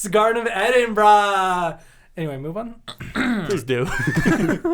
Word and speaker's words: Edinburgh: like no it's actually pronounced glasgow um like americans say like uh edinburgh but it's like edinburgh yeah it's edinburgh yeah uh so yes edinburgh